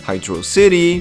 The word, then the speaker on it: Hydro City: So, you got Angel Island, Hydro City.